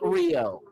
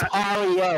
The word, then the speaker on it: REO: No, he wrote Rio, but he wrote Rio, man. Okay. Hold on a second. Hold on a second. Hold on a second. R E O. It's It's spelled Rio, but it's Ario.